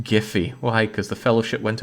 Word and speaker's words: Giphy: get out oh my god where is home jiffy do you have something better to say this is our world it's pronounced giphy why because the fellowship went over to gondor